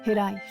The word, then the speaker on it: hiraeth: It is pronounced hiraeth.